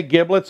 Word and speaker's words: giblets: out of him and I say giblets I have my entire life because giblets is spelled with a G that's kind kind people